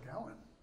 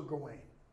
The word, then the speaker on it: Gawain: Sir Gawain. Or Sir Gawain, depending on how you pronounce it.